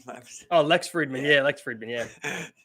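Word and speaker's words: Lex Fridman: Lex Freeman. Whatever. Oh, Lex Friedman.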